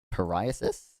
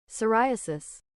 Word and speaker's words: psoriasis: system cured my uh pariasis. Is that how you pronounce this? I don't I don't know if it's going to matter, but psoriasis. Psoriasis. Psori.